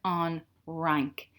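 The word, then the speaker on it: an Fhrainc: That's why we've put a H in here, on rank. And I'm not pronouncing the FH because it's like a silent thing in Irish, so I just go straight to the R-A-I-N-C, on rank.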